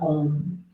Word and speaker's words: Om: But all we're going to do is just chant the sound of Om, which is 4 syllables. Ah, O, and the silence after.